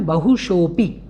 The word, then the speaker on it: बहुशोऽपि: इसलिए अगर आप पहले से इसका उच्चारण कर रहे हों, क्योंकि बहुत सारे लोग इसका उच्चारण आ रूप में कर देते हैं, इसको समझते हैं ये आ बना हुआ है। नहीं, ये तो केवल एक सूचक है। आपको बोलना है बहुशोपी, बहुशोपी इस प्रकार से।